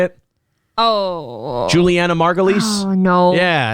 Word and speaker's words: Julianna Margulies: you say it oh julianna margulies oh no yeah i think it's julie you say juliana margulies is what you say uh i didn't see